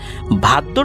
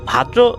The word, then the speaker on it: ভাদ্র: ভাদ্র মাসের অর্থাৎ ভাদ্র অনেকে এটাকে ভাদ্রা অমাবস্যা বলে। এটা মানে বিভিন্ন এলাকায় তাদের মত করে উচ্চারণ করে।